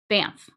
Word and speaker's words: Banff: Wait, Banff? Oh, Banff. Like that? One syllable?